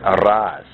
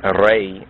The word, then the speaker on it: Re: Negus, really Negus, and RAS. Some allege that RAS is related to Re, or mispronounced Ra, from ancient Egypt, the sun